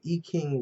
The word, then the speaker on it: I Ching: i got it from the e king readings um which uh uh is spelled this way okay it's in beijing i ching and some places that want to pronounce it american but anyway it answers